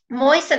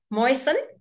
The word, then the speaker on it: moisten: a French word baguette moisten oh I'll write that down and basically right there's a silent letter for you Tosic um the a ii a is silent basically right moisten moisten good and basically I'll go